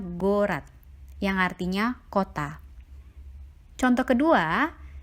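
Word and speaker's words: город: Sehingga untuk kata ini kita membacanya gorat, yang artinya kota.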